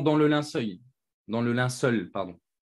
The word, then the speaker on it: linceul: le linceul dans le linceul pardon on m'a beaucoup appris sur ma prononciation du mot linceul j'ai tendance à dire l'un seuil mais ces linceuls on